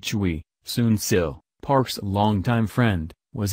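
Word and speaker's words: Choi: a newspaper reports that Choy pronounced Chui Sunil Park's longtime friend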